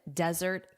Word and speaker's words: desert: Notice here, desert. As zzz. So, you want that z sound, that buzzing like a bee. Zzz. Desert. Desert. And let's compare this against chocolate or sweets at the end of a meal, which is of course, say it out loud, dessert. Dessert. Dessert. Desert sand, dessert sweets.